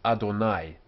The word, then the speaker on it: Adonai: call it y Orem in a text this is read as Adonai um so as you say here it's read as Adonai and we wouldn't write